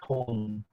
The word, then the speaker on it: Coleman: So is it Coldman? Cold is the D is silent. Coleman.